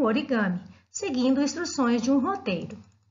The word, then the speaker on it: origami: Ori significa dobrar e kami, papel. A pronúncia junta os dois termos origami.